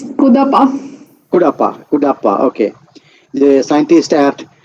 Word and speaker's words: Kudapa: How do you pronounce? It's Kudapa.